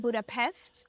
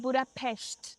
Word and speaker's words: Budapest: And they actually don't pronounce it Budapest. They pronounce it Budapest.